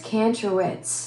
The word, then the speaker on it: Kantrowitz: Alex Kantrowitz.